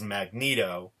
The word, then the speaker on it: Magneto: and Glenn greenberg were arguing over the pronunciation of magneto and which obviously is magneto but I say Dormammu